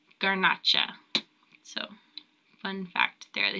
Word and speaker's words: Garnacha: They also make Monastrell, which is also known as Morvedra, Syrah, and Grenache, which in Spain is pronounced Garnacha.